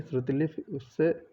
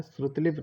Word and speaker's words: श्रुतिलिपि: प्रधानमंत्री के भाषण की श्रुतिलिपि उसने उसी समय ले ली। श्रुतिलिपि पूछा गया है, इसका सही प्रोनाउंसिएशन क्या होगा या फिर सही लिखा कैसे जाएगा। तो ये होता है श्रुतिलिपि, नहीं होता है श्रुतलिपि।